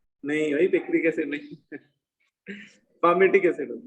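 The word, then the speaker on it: palmitic: एल भी होता है ना, एल एक्चुअली साइलेंट होता है उसमें, है ना, PAL, मैंने एल लिखा नहीं, उसमें एल एक्चुअली पढ़ते उसको पामेटिक है, लेकिन वही है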